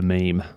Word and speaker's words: meme: can call it imitation he says that it's it can be pronounced mem but uh let's go with meme love a good meme